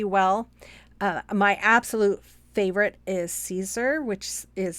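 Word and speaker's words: Siser: my absolute favorite is Caesar which is spelled it looks like slicer but it's it's pronounced Caesar that's my ultimate favorite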